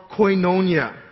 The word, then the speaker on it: koinonia: And the word for participation here in the Greek is called koinonia. Okay? I had a hard time pronouncing that in Dogok, so I had to look it up.